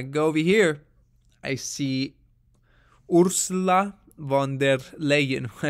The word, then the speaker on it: Ursula von der Leyen: over here i see ursula von der leyen that's how you pronounce her name she's the president of